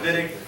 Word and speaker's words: Wittig: uh okay the vid reaction uh looks like viig but we pronounced it vid least that's what the Germans tell us it's